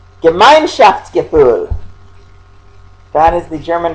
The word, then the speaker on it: Gemeinschaftsgefühl: And Adler had a word for this term, so let's click on it so you can hear a pronunciation of it. Gemeinschaftsgefühl. Gemeinschaftsgefühl.